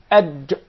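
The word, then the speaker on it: ج: There is no gim in Arabic. It is aj.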